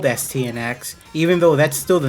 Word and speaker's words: Astyanax: how to pronounce the name of this game asktai anax no the proper pronunciation is stnx it means protector of the city and it's